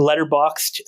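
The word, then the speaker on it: Letterboxd: like a social media for Movie watches the letterboxed um it's spelled letter boxed b-o-x-d um and I'm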